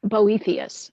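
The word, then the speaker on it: Boethius: we're not really sure how we would have pronounced it in his day but today most people say boethus so we're just going to go with that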